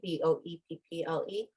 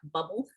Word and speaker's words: Boepple: Yes, you can definitely follow me on Facebook under Boepple, Boepple, Boepple, not Bubble. No, most people pronounce it. No, nobody pronounces it right.